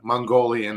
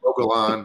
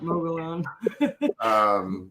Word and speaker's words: Mogollon: you know, you yeah, know, it's always a Mongolian monster, yeah, Mogollon. Mogollon.